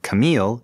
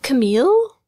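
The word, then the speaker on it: Kamille: should use going forward I think Camille but what do you think I also think Camille I think that's clearly what is used when when Camille is arguing with fa he doesn't say it's Kam not he doesn't like correct her pronunciation he just doesn't want to hear his name and when Jared hears fa say it it sounds to him like the feminine Camille mhm although that raises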